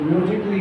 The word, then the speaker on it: musically: तो फिजिकली ए का नहीं आ रहा, जैसे म्यूजिकली MUSICALLY, तो म्यूजिकली होगा, म्यूजिकली।